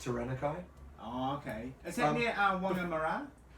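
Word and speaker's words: Taranaki: tyan tanaki hard court it's pronounced tanakai oh okay is that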